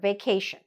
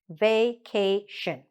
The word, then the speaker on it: vacation: So for example, this word, vacation. Vacation. 3 syllables, okay? This one, location. But where do we put the stress? Just before the shin, okay?